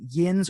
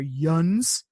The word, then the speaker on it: yinz: And depending on what part of Pennsylvania you're in, you're either pronouncing it yins or yuns, which makes sense.